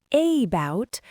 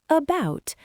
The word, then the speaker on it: about: We do not say about, we say about. The stress is on the second syllable, bout. Because the first syllable is unstressed, that letter A turns into a lazy schwa, about.